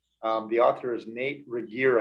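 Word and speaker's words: Regier: the author is nate reger i think is how you pronounce his last name r r-e-g-i-e-r but here's the definition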